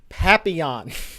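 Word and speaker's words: Papillion: I come to find out that's how you pronounce howy say how' you rizy say you have to say from the French papon I didn't even know what you were talking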